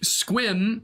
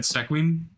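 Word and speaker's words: Sequim: pronounced hump tulip there's no other way to pronounce it squim squim was uh was one that I was corrected on uh yeah I would have said seim yeah that one is in fact stum steel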